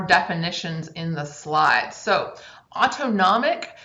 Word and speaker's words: autonomic: in the slide so autonomic sounds like the word automatic and that's how i remember it autonomic that part of